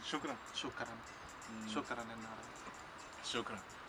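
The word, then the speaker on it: شكرا: Shukran. Shukran. Shukran. Shukran en árabe. Shukran.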